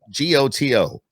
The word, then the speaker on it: Goto: gonna screw it up g-o-t-o you wouldn't be the first one yeah i always tell people it rhymes with photo okay goto yeah i